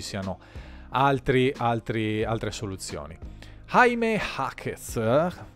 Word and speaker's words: Jaime Jaquez: Jaime Jaquez, ma detto all'americana, dopo se si pronuncia magari alla spagnola potrebbe venire fuori Jaquez, comunque Jaime Jaquez detto all'americana Junior, è scelto dai